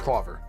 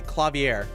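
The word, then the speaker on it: Klavier: It might actually be Clavier because of the eye. It could be. If the eye wasn't there, Claver for sure. But I think it's Clavier. Clavier. With a little bit more emphasis on the last part.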